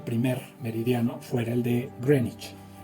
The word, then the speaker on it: Greenwich: Greenwich. Pero se escribe, Greenwich.